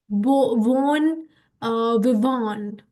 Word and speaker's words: bon vivant: वैसे this is pronounced as bon vivant, right?